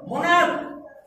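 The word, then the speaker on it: monarch: মোনার্ক রাজা, আর stomach পাকস্থলী। তাহলে এখানে সিএইচ এর উচ্চারণ ক, মোনার্ক।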